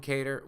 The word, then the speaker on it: Kattar: How do you say your last name? I say Kattar, but however you want to say it's fine.